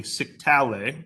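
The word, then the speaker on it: scytale: Well, so what the sage Elisha here decides is that we will get a staff that commonly was called a siktale, rhymes with itale, so siktale, and this staff would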